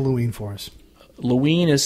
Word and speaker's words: Loween: Loween is spelled L-O-W-E-E-N, and it's derived from the word Halloween. And it's one like of the Halloween without Hal.